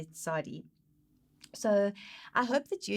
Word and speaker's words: Tsade: And so phonetically, in the English, it is that sound, as in mitzvah, or as in if you say pots, it's that sound that is Tsade.